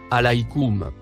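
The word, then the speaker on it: عليكم: mot en surbrillance jaune se prononce alikum on peut tout simplement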